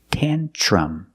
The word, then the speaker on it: tantrum: Pronunciation, use the short ah sound, tantrum. The tr makes a ch sound like chicken. Tan-ch plus the r, ch. Tantrum. The last vowel is a short sound like cup and up. Together, tantrum.